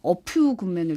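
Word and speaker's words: A Few Good Men: 하면서 영화 어퓨 굿맨을 추천을 하셨어요. 예, F 발음 주의해야 됩니다. 네, 어퓨 굿맨, 예.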